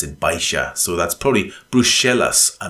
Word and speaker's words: Baixa: of centre of town, it looks like it's pronounced Baixa, but in fact you pronounce it Baixa.